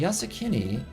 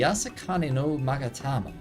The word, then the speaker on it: Yasakani no Magatama: The Yasakini... I've said it wrong like every time. The Yasakani no Magatama belongs on the Isle of Zeki.